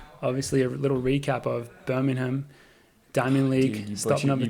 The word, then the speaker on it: Birmingham: So what's the correct pronunciation? Birmingham. I think that was. I think just the H.